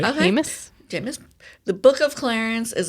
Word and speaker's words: Jeymes: Oh, how do you say the first name? Oh, yeah. Yeah, like Jameis. Okay, so Jeymes Samuel is spelled Jeymes. Okay, that sounds about right. Okay. Jeymes.